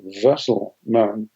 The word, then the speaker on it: Wesselman: They said, your name is Wesselman, that you're a vessel, like the canoe.